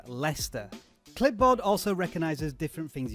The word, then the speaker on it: Leicester: And by the way, for non-English people, that word is pronounced Leicester.